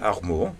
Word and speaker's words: Armour: Nous avons avec nous aujourd'hui Armour, c'est bien Oui, prononcé? Armour, oui.